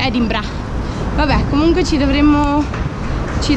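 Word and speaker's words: Edinburgh: edimburgo che abbiamo scoperto che non si dice è rimboccata si dice ed ibra vabbè comunque ci dovremmo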